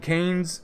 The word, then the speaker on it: Keynes: And Keynes is, or you know how to pronounce that, it's Kane with an S.